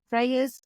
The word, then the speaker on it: Freyja: um my name is Freya fairy tale art and Freya is spelled with the J so it's y j a so it's a a little bit different but it's more Germanic spelling so yeah so if